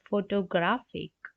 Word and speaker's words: photographic: is the answer 43 the most proximal syllable in the word photographic 43 the most prominent syllable is GRA and 44 the weak